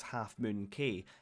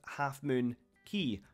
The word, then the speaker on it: Half Moon Cay: of the island as half moon cave however after doing some research it turns out the name should be pronounced Half Moon key so we may go